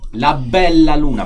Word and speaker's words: La Bella Luna: say it like me. La Bella Luna. Bella. You gotta emphasize Bella.